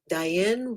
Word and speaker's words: Diane: That's me, Diane Rhymes with Cayenne.